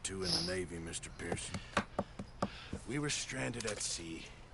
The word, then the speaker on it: Pearson: Peterson's mission first. I think that's how you pronounce his name. Pearson. Not Peterson, it's Pearson.